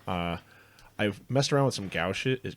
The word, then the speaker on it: gouache: I've messed around with some gouache. Is gouache?